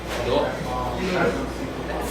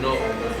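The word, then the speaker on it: Newark: It's N-O-R-K, that's how you pronounce it. Okay. That's how you pronounce it. It's N-E-W-A-R-K. Oh, okay. It's North.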